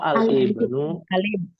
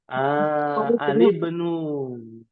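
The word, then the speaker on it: الابن: Oh, al-ibnu. Al-ibnu. Al-ibnu. Cara bacanya saja sebenarnya al-ibnu, bukan al-ibnu. Ya, yang sahih begitu. Kalau ada orang yang bacanya al-ibnu, itu salah secara kaidah bahasa Arab.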